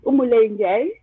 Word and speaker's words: Umule Njai: Oh, yeah, you got it right. Umule Njai. So it's a French pronunciation, but yeah, you got it right.